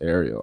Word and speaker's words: Ariel: She said, my name is actually pronounced Ariel.